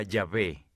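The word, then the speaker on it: Yahweh: a ustedes éxodo 314 en hebreo yo soy se pronuncia llave ese nombre para dios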